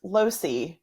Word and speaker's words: Losee: actually my maiden name it's pronounced losi and okay opposite of hi-c i like it losey thanks so much